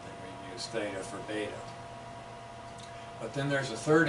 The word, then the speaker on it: beta: if you were that beta rhymes with Theta so when you're talking